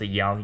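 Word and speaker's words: 阳: This is pronounced yin and this is pronounced yang.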